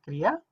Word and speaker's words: Kriya: concepto en más detalle, There are two syllables in this word, la palabra Kriya tiene dos sílabas, Kri and Ya. Kri y Ya.